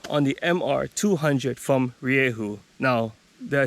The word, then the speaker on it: Rieju: do a review on the mr 200 from riehu now did i say riye who yeah i said riye who and that's how you pronounce the name of this bike this bike